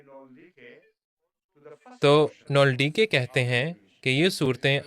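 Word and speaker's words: Nöldeke: میں نازل ہوئی تھیں۔ نولڈیکے یا نولڈیک، مجھے ان کے نام کا صحیح تلفظ یاد نہیں، German word. نولڈیکے ہے، نولڈیکے، یہ جرمن نام ہے۔ میرے لیے جرمن تلفظ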